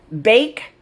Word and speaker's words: bake: Bake follows the same rule. So we keep the change B-A. We don't say ba, we say bay. Bake.